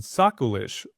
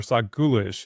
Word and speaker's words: SocGholish: So today we're going to be hunting for behaviors associated with a long-running malware campaign called SocGhoulish or SocGhoulish. It's kind of pronounced both ways.